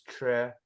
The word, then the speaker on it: Tre: is weird because so the actual pronunciation of my last name is Tre and to um actually like say it's hard like I I the way I my cut one of my cousins you know devised a uh a way of helping people pronounce it and that is like you take the Trek from Star Trek and then you take out the k you know and like